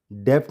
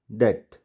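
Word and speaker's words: debt: यहाँ हमको इसको डेप्थ नहीं पढ़ेंगे, हम पढ़ेंगे डेट, डाउट, सटल।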